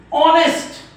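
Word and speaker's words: honest: समजतंय ना तुम्हाला मग या ओ च्या अगोदर जर एच आला तर हा एच नेहमी अशा प्रकारच्या स्पेलिंग मध्ये शांत असतो तुम्ही तुमच्या टेक्स्टबुक काढा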